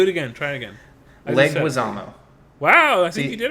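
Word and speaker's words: Leguizamo: me cuz I'll butcher it but John leg leguisamo leguisamo he had a brief role but it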